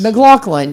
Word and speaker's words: McLaughlin: McLaughlin.